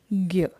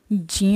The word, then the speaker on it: ज्ञ: लेकर बात करें तो इसको आपने अभी तक सुना होगा ज्ञ, जबकि इसका शुद्ध उच्चारण जो होता है वो ज्ञ होता है। जैसा कि हम इसके वर्ण विच्छेद में ही देख सकते हैं कि इसमें ज ञ और अ आता है।